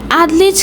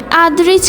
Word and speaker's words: আদরিজ: নির্জনে তখন ছোট ছোট মুখে উচ্চারণ করার চেষ্টা করল, আদলিজ খান রিয়াদ। তার কথা শুনে ছেলেটি হো করে হেসে উঠে বলল, আদলিজ খান রিয়াদ নয়, আদরিজ খান রিয়াদ।